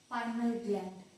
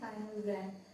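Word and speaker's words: pineal gland: अब next hormone पाइनियल ग्लैंड, पाइनियल ग्लैंड या फिर पाइनल ग्लैंड, बहुत लोग अलग अलग तरह से सब लोग किसी एक वर्ड को प्रोनाउंसिएशन करते हैं, तो हम इसको प्रोनाउंसिएशन करेंगे पाइनल ग्लैंड।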